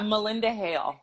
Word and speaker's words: Malynda Hale: to make sure i say it correctly yeah melinda hale okay that's what i thought the y i